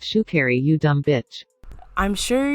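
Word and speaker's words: Sha'Carri: because of the whole shikari uh mess it's pronounced shoe carry you dumb bitch i'm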